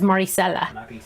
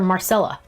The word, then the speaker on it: Maricela: Her family says Maricela. Maricela. They say it's so gorgeous. It's so beautiful. My brother calls her Marcella. Maricela is so much prettier.